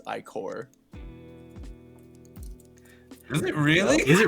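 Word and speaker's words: ichor: I think I learned with Matt when he he realized like er wasn't pronounced. It's I core.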